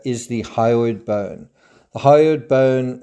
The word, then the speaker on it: hyoid: The hyoid bone, it's spelled H-Y-O-I-D, floats in the neck area.